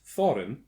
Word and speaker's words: Thorin: The following dwarves were in Norse mythology: Dvalin, Bifur, Bafur, Bomber, Nuri, Urin, Oin, Gandalfur, Fili, Kili, Gloin, Dori, Thorin, pronounced Thorin.